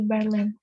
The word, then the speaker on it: Berlin: Today I'm in Berlin. Sebenarnya pengucapannya R-nya nggak terlalu ketara karena orang Indonesia R-nya itu jelas ya, jadi Berlin. Kalau di sana mungkin ngomongnya Berlin. Gitu.